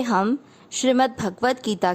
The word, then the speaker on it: श्री: ओम श्री, श्री का अर्थ हुआ श आधा और र पूरा। र पूरे पर बड़ी ई की मात्रा है श्री।